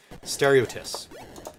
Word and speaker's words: Steriotis: My last name is pronounced how you would say stereo, like a car stereo. And the last part is how you would say kiss, but with a tiss. Steriotis.